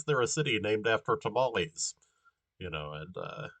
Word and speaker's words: Tamale: No, I really did look that up, like because it's like, well, why is there a city named after tamales? And it's pronounced Tamale.